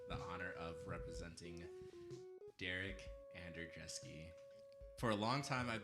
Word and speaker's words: Andrjeski: me I have the honor of representing Derek Ander dreski for a long time I've been pronouncing it andreski and I just was told today that that's